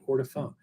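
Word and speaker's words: Ortofon: Ortophone.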